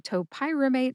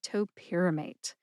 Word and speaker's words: topiramate: I told you which syllables to emphasize if any at all, shared my sources, and I cautioned you against saying top pyramate instead of topyramate.